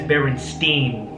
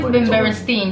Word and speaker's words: Berenstain: that I'm like yeah we say it as Berenstein it's only Berenstein you know why because I remember when I was young I want to make sure I pronounced all my words or names properly so anything with an AI and STI n is like stunning you know like a Jewish name like Frankenstein so I knew that